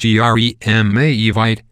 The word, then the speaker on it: Jeremejevite: Pronounced Jeremejevite, this is a colorless, sky blue or pale yellow stone, the highest quality of which comes from Namibia.